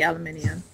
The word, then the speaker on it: aluminium: That's the way it's supposed to be said. It's supposed to be aluminium. Damn what?